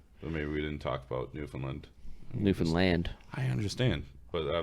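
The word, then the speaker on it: Newfoundland: zone they're not in the half half that's New Finland that's just Newland that's just new new land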